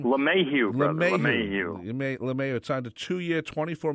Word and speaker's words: LeMahieu: LeMahieu.